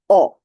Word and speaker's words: ho: Verbo avere, as you know, there is the H, in Italian H, but it is not pronounced. In fact, this one I'm going to read the whole thing. Io ho, tu hai, lui, lei